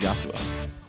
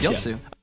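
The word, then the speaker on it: Yasuo: you would never guess how many more times you mispronounce yasua Yu yasua yosu okay yosu y there we go you're pronouncing wrong it's yosu no I would have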